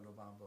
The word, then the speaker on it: Lubambo: Ours in Portuguese are pronounced H. So my friend Romero Lubambo is actually Romero Lubambo, a great Brazilian guitar player.